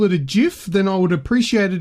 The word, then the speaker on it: GIF: the song gif chief it's actually called pronounced jiff cuz the dude who created it calls it a doof but I'm